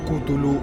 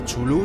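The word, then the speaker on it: Cthulhu: esa criatura de ahí pronunciado en español como kutulu o chulu se trata de una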